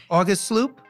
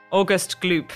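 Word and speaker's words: Augustus Gloop: And there's also a meme, and I'm going to ask you to pronounce it. August Sloop? August Gloop.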